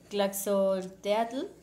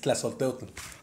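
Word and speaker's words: Tlazolteotl: Historia de Tlaxolteatl. Si ¿Sí lo pronuncio bien? Que creo que no. Es Tlaxolteotl, la señora de la inmundicia.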